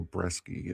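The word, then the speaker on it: Brieske: Bo Bresky, yeah.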